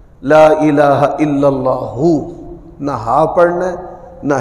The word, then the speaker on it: لا الہ الا اللہ: میں کامیابی کے لیے کلمے کا صحیح جو تلفظ ہے وہ بھی ہمیں ازبر ہونا چاہیے، بچوں کو بھی ازبر کروانا چاہیے۔ لا الہ الا اللہ، نہ ہا پڑھنا ہے